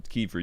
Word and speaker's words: Kiefer: No, it was Kiefer.